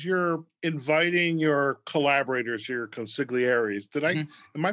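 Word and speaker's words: consiglieri: i'm curious as you're inviting your collaborators your consiglieres did i am i pronouncing consequences i've heard it pronounced that way consolieri is how they do it in the godfather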